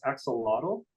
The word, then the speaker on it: axolotl: So you know how like in Spanish they don't pronounce the X like we do. It's like a H sound or something.